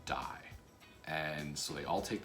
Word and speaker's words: DIE: i only get one dice and saul who is the the master of the game says you're you're saying it wrong it's called die and so they all